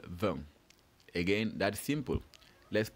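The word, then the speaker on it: vingt: How do we spell VEN? Again, that's simple. Let's spell that out together. VEN is spelled V I N G T. VEN.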